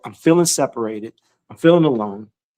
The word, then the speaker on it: Alon: My name is Alon, pronounced like you're going to cut grass, like you're going to cut a lawn. It's not spelt that way, but it is pronounced that way.